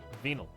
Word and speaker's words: venal: venal is it like it's pronounced the same way venal like venus anyway some vague promises